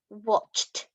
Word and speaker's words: watched: My sister watched TV. Now, look at the spelling of watched. Now remember, some words that have ed on the end make a t sound at the end.